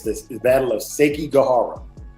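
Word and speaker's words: Sekigahara: Shout out on that one, too, cuz he said he asked me how to pronounce it. It's the battle of Seiki Gajara. Seek Gajara.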